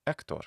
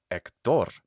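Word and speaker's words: Héctor: For example, spelled practically the same way, this name is pronounced Hector in Spanish, right? Hector. You may even know an Hector in Spanish. It's not Hector, like you might think it would be.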